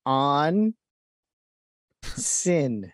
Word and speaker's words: onsen: It's pronounced on sin.